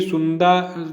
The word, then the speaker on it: Sunda: देखिए सुंदा जल डमरू मध्य जो है ये सुंडा भी कहीं लिखा मिलेगा, तो कहीं सुंदा कहीं सुंडा लिखा होता है। स्पेलिंग होती है SUNDA। ठीक है, तो कोई सुंदा पड़ता है कोई सुंडा पड़ता है।